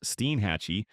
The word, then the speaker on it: Steinhatchee: Steinhatchee, pronounced Steenhatchee, sits on the Big Bend Coast, that gentle curve where the panhandle melts into the peninsula.